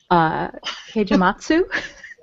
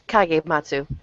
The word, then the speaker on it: Kagematsu: Heijimatsu. It's Kagematsu.